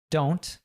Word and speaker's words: don't: We have a T at the end there. Usually when we have this NT at the end of words, we'll pronounce that T as what's called a glottal T. It's a sound that's cut off at the back of we cut the T off at the back of our throat, right?